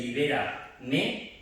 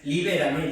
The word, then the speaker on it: Libera me: número, Cor mundum crea, el 8, que es el Libera me, no es Libérame, ya lo saben los del coro, claro, es que los ensayos, permitidme los chascarrillos, libérame, no, libérame, no lleva tilde, esto es latín, libera y luego me, es diferente, ¿vale?